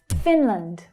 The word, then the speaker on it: Finland: Finland, Finland. The first syllable is stressed and the second syllable is unstressed, so that vowel sound reduces down.